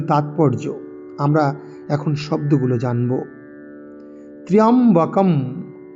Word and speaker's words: ত্র্যম্বকম: ত্র্যম্বকম, ত্র্যম্বকম, ত্র্য জফলা য় ত্রা, এরম আকার উচ্চারণ করব না।